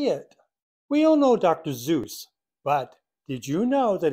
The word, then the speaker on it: Seuss: Seuss, but did you know that he pronounced his own name differently? Well, we say it like it rhymes with goose. He actually pronounced it like it rhymes with voice.